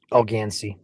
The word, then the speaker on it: Algansee: Um Yeah, area of uh some rotation right in here um near Alganees or Alganes. Algansee. Algansee. I butchered that.